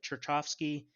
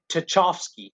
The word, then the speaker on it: Tchaikovsky: It's actually called the Swan Lake song, and I believe it was by I can't pronounce his name. It's like Cherchovsky. It was a Russian guy, but he did Tchaikovsky.